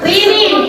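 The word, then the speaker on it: women: উইমিন উই আর উইমিন এটার উচ্চারণ কি হবে উইমিন উই মিন অর্থ কি মেয়ে মেয়ে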